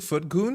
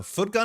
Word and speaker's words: footgun: Mentally pronouncing foot goon as the same way as handgun. No, no, no, no. Footgun is foot gun.